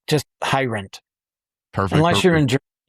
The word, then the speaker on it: Heirendt: It's pronounced easier than it's than it looks like. Just Hirendt. Perfect. Unless you're in Ger- And then it sounds something guttural like Hirendt.